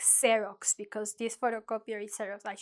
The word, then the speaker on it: xerox: But really, it's like if you think about xerox, you can master two rules in one word because it's at the end of the word, like xerox, and at the beginning of the word, like xerox. So think about the photo. When you're making a copy, think, oh, the X sound.